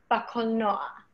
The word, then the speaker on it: קולנוע: For those of you that are trying to phonetically write this down somewhere, think of it as K-O-L N-O-A-H, קולנוע. Like the name Noah, קולנוע.